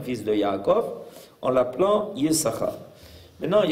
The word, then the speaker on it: Yissachar: On le lit comme étant Yesh Sachar, et quand on va le prononcer, on ne va pas prononcer Yissachar, on va dire Yissachar, comme si on sautait une des lettres.